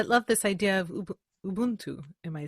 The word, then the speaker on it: Ubuntu: every single I love this idea of UB Ubuntu am I saying not weird yes you say